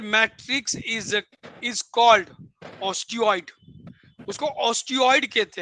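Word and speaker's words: osteoid: Matrix is is called ऑस्टियोइड। उसको ऑस्टियोइड कहते हैं। देखो ऑस्टियोइड स्पेलिंग है ओ टी ओ एस टी ई ओ आई D spelling है ओ एस टी ई ओ आई डी ऑस्टियोइड। इसे ऑस्टाइड कहा जाता है।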